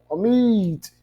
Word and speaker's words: omit: Omit. Né? Não é omit, é omit.